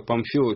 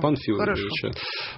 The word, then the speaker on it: Памфилова: Я здесь обращаю внимание вычитывающего и расшифровывающего наш эфир, что Памфилова пишется через букву М. А ты всегда говоришь Панфилова.